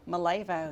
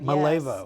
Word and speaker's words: Malevo: Malevo, Malevo.